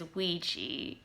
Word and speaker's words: Ouija: just like in a ouija board in ouija board ouija board yeah the preferred pronunciation is ouiji i hope you enjoyed